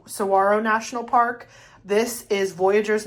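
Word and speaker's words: Saguaro: This is Sarro. Sawarro. They said don't pronounce the G. So I think it's S Sarro National Park.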